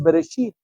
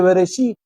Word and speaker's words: Bereshit: Génesis en el hebreo es beresit. ¿Cómo se dice? Bereshit en el principio.